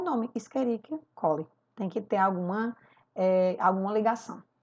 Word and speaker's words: Escherichia coli: Esse exemplo aqui, ó, que está em vermelho em primeiro, ele se pronuncia assim, ó, Escherichia coli.